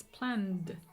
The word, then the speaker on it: planned: sounds as Eid decided in this case just a d so it's planned and here the past